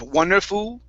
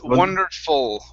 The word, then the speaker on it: wonderful: Let's try that last word, or second to last word, the L. Instead of wonderful, it's wonderful. Wonderful.